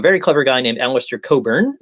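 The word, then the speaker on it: Cockburn: clever guy named alistair coburn spelled c-o-c-k-b-u-r-n and the c-k is silent for some reasons you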